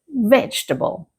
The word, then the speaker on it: vegetable: In natural English, we say vegetable. Repeat after me. Vegetable. Again. Vegetable. Notice how the middle section of the word becomes much smaller. English often reduces unstressed syllables and this is a perfect example.